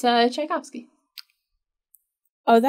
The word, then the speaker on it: Tchaikovsky: It's Tchaikovsky. Oh, is that how you say it? But there's a T. It's like a T with a ch, so it's like all a right.